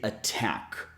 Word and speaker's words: attack: this word for example since the syllable with the t is emphasized we have to pronounce the T as a regular T so we say attack not attack got it